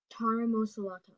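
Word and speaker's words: taramasalata: Taramosolata. May I have other information, please? Taramosolata. It can also be pronounced taramosolata.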